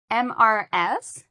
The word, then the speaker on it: Mrs.: Mrs. is spelled M R S and it has two syllables.